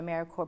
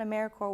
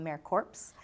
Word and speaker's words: AmeriCorps: doesn't know anything about AmeriCorps when they call them a mere corpse the S is silent and it's it's really